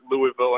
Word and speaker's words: Louisville: come down here and pronounce louisville and just to kind of stab you and say hey it's louisville and i've kind of taught myself to have that like gargle on the back of my throat whenever i'm pronouncing it just to not piss